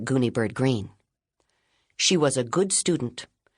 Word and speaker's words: Greene: My name is Gooni Bird Green. That's green with a silent e at the end.